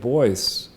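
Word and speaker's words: Boies: this interview, is when I noticed that David Boyce was representing, was the lawyer.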